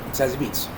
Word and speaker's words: Zazie Beetz: Zazie Beetz.